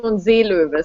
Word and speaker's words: Seelöwe: Well, in German it's pronounced Operation Seelöwe.